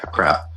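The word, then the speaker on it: עקרב: Yeah, a crab. So and typically Q is pronounced K in those aspects, as opposed to how we pronounce Q.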